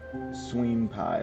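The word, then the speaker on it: NotisMeSwenpai: Tis me. Sween pie like like senpai. Notice me. But it's spelled n o t i s m e s w e n p a i.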